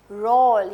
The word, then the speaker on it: role: इज a long vowel sound again, होल, पोल, रोल, यानी किसी का किसी जगह रोल होता है ना, हम लिखते हैं ना ये ROLE, रोल।